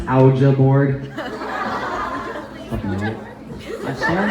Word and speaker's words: Ouija: It's pronounced Ouija board.